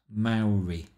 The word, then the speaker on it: Maori: curious to see a Maori pronounced Maori the first syllable rhyming with cow and they had not